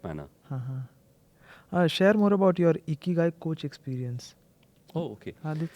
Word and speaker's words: Ikigai: And hence, if you put together Ikiru Gai and Ru is silent, Ikigai, it means trying to get in the purpose of your life.